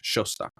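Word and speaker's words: Szosok: o k cool but that's pronounced like an sh in English showu cool yes uh Maggie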